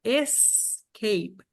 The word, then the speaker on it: escape: Agora aqui, ó, por exemplo, você tem a palavra escape, escape. Aqui você tem uma sílaba antes. Então, escape são duas sílabas.